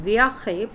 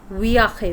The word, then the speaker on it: viaje: Nosotros estamos is for we are in un viaje. Viaje is journey. And whenever you have to use that word J, you never sound it as J, they are pronounced as G.